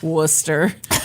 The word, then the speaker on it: Worcester: Looking at you, Massachusetts. Worcester. Yeah. You can't just ignore full syllables.